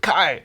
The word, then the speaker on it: Kai: rhymes with die. Kai, it's the ultimate bad boy name.